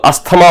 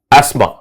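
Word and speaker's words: asthma: आपने सुना होगा अस्थमा, तो कुछ लोग अस्थमा बोलते हैं, कुछ लोग एस्थमा बोलते हैं, पर आपको जान के ताज्जुब होगा कि इनमें से कोई इसका प्रोनाउंसिएशन नहीं होता। इसका सही प्रोनाउंसिएशन होता है क्या? एस्मा। एस्मा सही होता, टीएच प्रोनाउंसिएट ही नहीं होता, तो अस्थमा बोल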